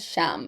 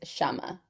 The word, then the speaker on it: Shama: I I mentioned that we got a DM from um I think I said Sham. I think her name is Shama. Pronounced Shama with an A at the end.